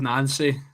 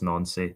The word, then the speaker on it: Nancy: You were pronouncing it absolutely correctly. Who was it? It was Wilfred Nancy.